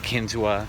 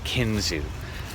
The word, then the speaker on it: Kinzua: for that place anyway someone told me that Kinzua is not wrong but that locals call it Kinzua so a little travelers